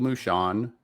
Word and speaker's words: Moushon: Mushon, is that how you say it?